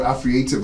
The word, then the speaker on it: Afreative: Now they've got, you know, something that I was trying to pronounce so well, but I kept saying it badly. Afreative.